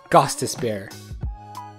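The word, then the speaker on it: Gostisbehere: We have Shane Gostis Bear. For this player, the OEK is pronounced as OO.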